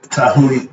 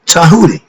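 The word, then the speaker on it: Djehuti: thinkers let's talk about tahi it's spelled D J E H u t i but the t is pronounced with a D sound and in China they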